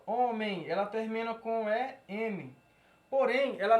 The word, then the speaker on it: homem: Ela é pronunciada da seguinte maneira. Homem. Então, esse EM, ele não tem som de E com tio. Ele tem som de EI.